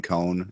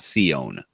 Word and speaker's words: Cohn: Oh, and yes, the reason why we're calling him Cohn is because that is the actual pronunciation of his name. It's not Sion. There's no apostrophe there.